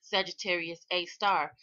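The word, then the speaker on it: Sagittarius A*: Researchers said scientists estimate that this black hole, also known as Sagittarius A, pronounced Sagittarius A star, has the mass of about 4 million suns.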